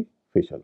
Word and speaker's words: facial: तो सोशल की तरह FACIAL का उच्चारण भी फेशियल होगा।